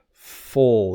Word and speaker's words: full: Full. It's kind of like, it's described as a full rounded sound. Full, full. But fool is more like zoo, ooh, ooh. So that's the difference there.